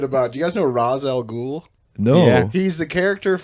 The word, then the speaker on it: Ra's al Ghul: Do you guys know Ra's al Ghul?